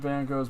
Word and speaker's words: Van Gogh: Okay, I've been going through, and I've discovered that they've now uncovered an entire family tree for Vincent van Gogh, or Van Gogh as we pronounce it.